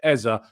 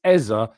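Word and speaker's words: Eze: appreciates the fact that I say Eza because that's what he said. So, please, please just accept that he has said it's Eza in an interview where he had to tell people how to pronounce his names.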